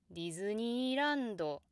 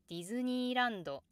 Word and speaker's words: ディズニーランド: So I find this diagram misleading, which could lead to pronunciation like ディズニーランド. At least in what's considered to be standard Japanese, it's more natural to say ディズニーランド.